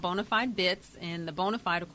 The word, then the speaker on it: BONA5D: it's spelled differently it's spelled Bo na the number-5 D it is pronounced bona fide and the definition is